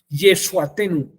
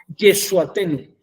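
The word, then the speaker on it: ישועתנו: Nuestra salvación se escribe o se dice Yeshuatenu. Exacto. Noaten niuaten ni yuatenu. No, Yeshuatenu. Sí, ahí está más que claro.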